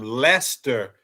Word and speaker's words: Leicester: I didn't know how I'm pronouncing the C in Lester.